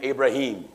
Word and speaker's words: Abraham: You religious scholars told one of the biggest lies on Abraham. Some pronounce his name Ibrahim.